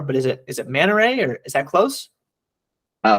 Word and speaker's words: Manary: last name before but is it is it manta ray or is that close uh Maneri is usually it there's a couple of spellings